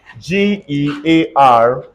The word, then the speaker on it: gear: we can find only God look at this g-e-a-r is not J some people call it Jawan